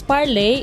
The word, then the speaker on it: parlez: will conjugate parle differently it becomes parle ending in easy which is the full form of the verb parle but we pronounce it the same way as parle meaning to speak generally